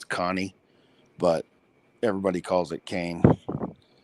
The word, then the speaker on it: Cane: Italian Mastiff um so and it's actually not pronounced Kane it's Connie but everybody calls it Kane and um I